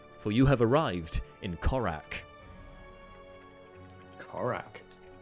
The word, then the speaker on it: Corrak: "Have heart, friend, for you have arrived in Corrak." Corrak. Spelled How are we spelling Corrak? You spell that C-O-R-R-A-K.